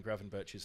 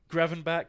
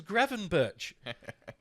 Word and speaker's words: Gravenberch: wanted to pronounce Ryan Gravenberch's name. Gravenbach, Gravenbeck, Gravenbeek, Gravenbeach, it's Gravenberch. It's fucking Gravenberch.